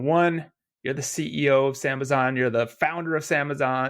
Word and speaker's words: Sambazon: say I should clarify I've always said sambazon I have a feeling I've also heard it as sambazan how do you say it potato potato you it depends if you're saying it Portuguese or English but sambazan sambazan it